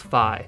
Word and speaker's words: Fi: think of phi yeah i call her phi you don't say feet you say fight so i i would argue that it's pronounced phi quick spoiler alert for